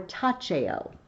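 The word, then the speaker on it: taceo: Tachio, or tacheo, if you want to do ecclesiastical pronunciation.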